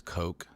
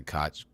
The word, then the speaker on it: Koch: and I think it's Coke. Although people always say Koch. They say Koch, but I think it's pronounced Is it Coke.